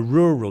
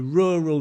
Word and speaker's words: rural: A rural neighborhood. That's a difficult word, right? Rural. Rural. Rural. Rural. Yellow lorry. That we have this um a tongue twister to practice the r.